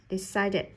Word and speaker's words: decided: Âm cuối cùng của từ decide là âm d. Đấy, âm d trong quy tắc thứ nhất là đuôi ed đọc thành it. Decided.